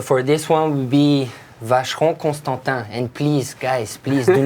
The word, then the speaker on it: Vacheron Constantin: Well, you know, if you really want to pronounce it like it should be pronounced, one more time for the folks. Vacheron Constantin.